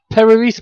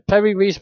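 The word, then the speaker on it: Piri Reis: perry Ree map uh spelled P I R I like Perry perry yeah like Yeah just like that and uh R E I S uh this map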